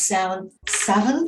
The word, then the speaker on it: Samhain: I actually pronounce Samhain because I'm Scottish, and that's the Scottish pronunciation.